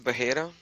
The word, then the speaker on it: Bahira: century by the way his name is bahira fyi that's how you pronounce it yep yes because and